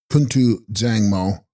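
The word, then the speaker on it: Kun tu bzang mo: Text Kuntu Bzyangmo, pronounced Kuntu Dzangmo, all good mother, Sanskrit Samantabhadra.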